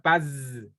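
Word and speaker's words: פז: sí es de de altísima calidad es se pronuncia Paz pero sí no no la tenía sí la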